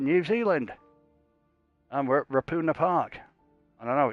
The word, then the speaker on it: Ruapuna: And we're at Rapuna Park. And I know it's called that because I've spoken to New Zealand people, and they call it Rapuna Park. It's not Ruapuna, it's Rapuna.